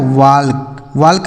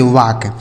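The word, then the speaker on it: walk: इसे पढ़ा जाता है वाल्क वाल्क नहीं पढ़ेंगे वाक देखिए यहां जो एल है ना यह साइलेंट है इसका उच्चारण हमें नहीं करना है डब्ल्यू ए एल के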